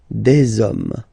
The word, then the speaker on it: hommes: homme, and after that you just put the s at the end. You don't pronounce it, so you get des hommes, des hommes, des hommes.